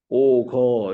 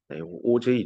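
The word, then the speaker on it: Auger: 얘도 한국말로 써보세요 했더니 오거 이렇게 쓰더라고. 그럼 땡. 책을 안 봤다는 겁니다. 지정한 BL의 선생님 책을 읽으면 명확하게 나옵니다. 이거 오가 아니다. 오, 제, 이라고 읽으라라고 나옵니다. 그래서 요번에 시험에도 책을 잘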